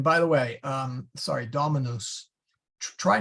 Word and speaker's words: Dominus: the way um sorry Dominus try not to make it rhyme with noose there uh you'll catch me I'll catch myself at it every now and then but it's Dominus short u so then you would